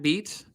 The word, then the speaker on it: Beat: my name is beat um can you spell that can you spell the last name please yeah it's b-e-a-t like be the drum okay and then your